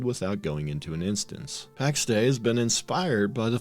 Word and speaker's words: Pax Dei: the Divine peace and is officially pronounced as Pax day and I never pronounce